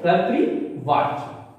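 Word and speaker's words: कर्तृवाच्य: ध्यान दीजिए, कर्तृ का उच्चारण सही कीजिएगा। र यहां आधार है यानी रेफ है, और यहां पे देखिए मात्रा, तो कर्तृवाच, ठीक। तो कर्तृवाच किससे बना है,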